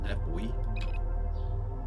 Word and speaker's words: buoy: There is the nav buoy. Or nav buoy, as the Americans say.